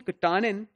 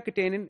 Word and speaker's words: katanin: if you remember beta katanin is a different protein it has a completely different function we talked about it when we were talking about APC so this word is pronounced as katanin not katanin Karin releases microtubules from